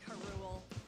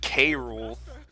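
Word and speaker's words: K. Rool: Because I always said K-Rule. The poobah. I mean, I guess Karul makes sense, because cruel, but...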